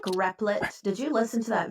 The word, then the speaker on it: Replit: We called it always Repellent. pronounced it Repellent. Okay. I was like, think is there a new one Replit out there? He in does. the video. He pronounces it Replit.